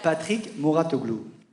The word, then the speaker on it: Patrick Mouratoglou: Patrick Mouratoglou.